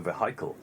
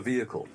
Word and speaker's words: vehicle: to it as the vehicle. You work out, that's a vehicle. So they're putting the stress on the second syllable.